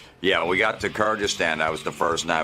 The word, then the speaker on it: Kyrgyzstan: Big debate, by the way, over the pronunciation, Kirzakstan, but I've since learned that it's pronounced Kyrgystan. And that's in Russia. Yeah. We got to Kyrgyzstan.